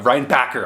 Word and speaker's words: Reinbacher: feeling at home now reinbacher is uh Ryan Packer I keep wanting to say backer backer that's the proper way to say it think linebacker right so uh it's cool